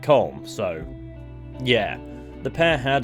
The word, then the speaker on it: Colm: Pronounced Colm, however, he pronounces it Colm, so yeah.